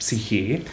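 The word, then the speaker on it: ψυχή: It's pronounced psyche.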